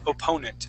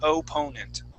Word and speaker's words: opponent: practice opponent okay so we want to use an O on both those opponent opponent opponent opponent okay and